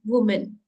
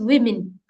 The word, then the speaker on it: women: That is, generally this word we pronounce as woman, but this is not woman. It is women.